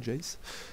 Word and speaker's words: Jace: Ouais, ça doit se prononcer à l'anglaise, ouais, Jace.